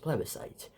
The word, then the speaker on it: plebiscite: Yes, it's pronounced plebiscite.